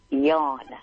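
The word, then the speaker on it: Jan: How is it pronounced? Yan.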